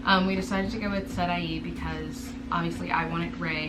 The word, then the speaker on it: Sarai: And then for Sarai, we decided to do, and that's spelled S-A-R-A-I, so in English it's like Sarai.